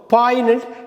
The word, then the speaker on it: poignant: பாய்னெண்ட், ஜி வந்து silent. POIGNANT, பாய்னெண்ட். அடுத்து நம்ம பார்க்க போகிற மிஸ்ப்ரொனவுன்ஸ்ட் வேர்டு, பரவலாக நம்ம பேசுகிறது கிராமத்து முதற்கொண்டு இது சொல்லாடல்ல வழக்காடல்ல இருக்கிற வார்த்தை தான்.